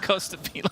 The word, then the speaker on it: Costabile: Found out today that Costabile is actually pronounced Costabile.